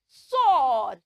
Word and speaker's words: sword: did not say sword it has a silent W so we will not say the W sound we will only